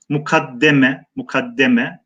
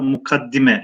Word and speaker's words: mukaddeme: Evet, başlık kısmında yazılan kelime mukaddeme, mufaale babında, fakat biz çoğunlukla mukaddime şeklinde telaffuz ediyoruz.